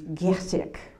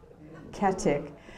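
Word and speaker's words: Goedecke: doing research for, and the name was Katic, C-A-T-T-I-C-K. And guess what the name really is? G-O-E-D-E-C-K-E, Getic, Ketic.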